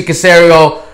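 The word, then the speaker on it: Caserio: The other scenario happens to rhyme with scenario, Mr. Casario, who in New England,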